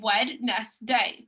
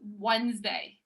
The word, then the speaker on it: Wednesday: we i spell it i say wed nest day but it's wednesday it's wednesday yeah it's